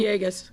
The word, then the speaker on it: Villegas: Alderman Villegas, I'm mispronouncing his name. Villegas.